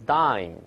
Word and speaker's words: dine: 好，下一个 dining with friends，注意这个词儿 dine D-I-N-E dine，首先注意发音